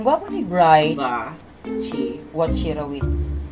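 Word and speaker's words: Vachirawit: Watchirawi. Ay, wa. You pronounce it as wa.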